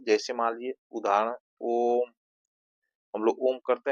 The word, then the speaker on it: ओम: जैसे ओम का हम लोग उच्चारण करते हैं दूर तक, ओम, इस तरह की जो है प्लुत स्वर जो है ओम के अंतर्गत आता है, 3 मात्रा का समय लगता है, ठीक है।